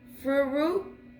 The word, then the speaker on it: furikake: Furikake.